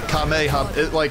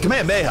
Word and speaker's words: Kamehameha: Like, I don't know what they're saying, but it is the Kamehameha. It's a Kamehameha, actually, is the way you pronounce it.